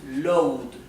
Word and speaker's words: load: To load significa cargar. Recuerden que la O y la A se pronuncian O. Por eso esto es load, no es load, es load.